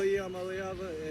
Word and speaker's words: Iamaleava: Yeah, I'm Nico Iamaleava, and the correct way to pronounce my last name is Iamaleava. Iamaleava. I'm getting better. Iamaleava. Iamaleava. Not lava. Ava. Iamaleava.